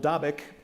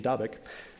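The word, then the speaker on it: Dabiq: in northern syria called davik which i'm told is the correct pronunciation dabek or at the amuk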